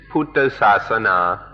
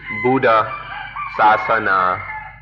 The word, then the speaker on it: Buddha Sasana: with themselves the word the Thai pronunciation is puta sana or in English it reads Buddha Sasana this word Buddha Sasana